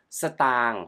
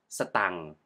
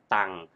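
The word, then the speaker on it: สตางค์: see ST ตัง ST ตัง Stop ตัง ตัง is a cal term for money you often Used in informal Speech so you can pronounce stang as stang or Simply ตัง and the word เงิน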